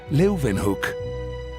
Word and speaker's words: Leeuwenhoek: L-E-Y, Leuven, se pronuncian con una B, Hoek, Leuvenhoek.